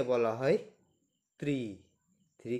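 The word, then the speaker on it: три: কে বলা হয় দোভা থ্রি কে বলা হয় ত্রি থ্রি কে বলা হয় ত্রি ত্রি ফোর কে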